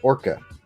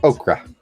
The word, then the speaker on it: ochre: Is it okra or orca? No, okra. I got it right the first time.